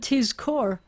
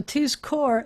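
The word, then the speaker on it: תִּזְכֹּר: So tizkor, you know it had to be a resting shva, even if you didn't hear it.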